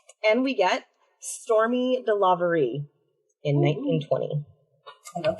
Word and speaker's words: Storme: looked it up and I was thinking it was storm but you know on the storm and I thought it was so clever but no that she they pronounce it stormy I was more I